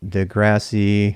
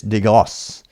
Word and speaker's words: deGrasse: If it's French, it's deGrasse.